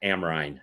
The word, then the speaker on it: Amrein: all I know exactly the name is pronounced amrein it's German Price Hill boy exactly